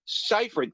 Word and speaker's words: Seyfried: Did they not give them a pronunciation guide to say Seyfried? Seyfried.